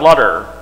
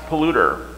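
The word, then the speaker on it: Paul Luther: people get it wrong it looks like butter it's not butter and it's not lutter nope so paul and luther together really fast as polluter you can thank my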